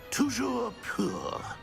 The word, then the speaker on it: Toujours pur: And, of course, as Master knows, in French. Yes, of course. I order you to pronounce it for me.